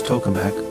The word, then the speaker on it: tokamak: Its Russian pronunciation is tokamak, commonly known as the artificial sun.